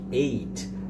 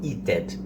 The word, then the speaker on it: ate: um verbo irregular, então você não pode falar eated, né? Eated, com ed no final. Você vai falar ate.